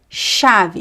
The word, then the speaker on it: chave: The ch is pronounced as a sh just like the sh. Chave chuva chapéu Remember that is never ch the ch in Portuguese is never ch is always sh.